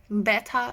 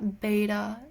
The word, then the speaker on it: betta: Betta, beta. I still don't know how you want me to pronounce it. Like, people write in the comments, you don't say beta, you have to say betta, but it's spelled the